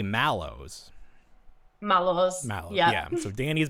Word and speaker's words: Mallows: the product squish mods because in America we it's like you know originally from marshmallow and we say mellow even though there's an a like a lot of the times the way that Americans pronounce things doesn't make any sense but you you you respect the a you say malow malow mow yeah so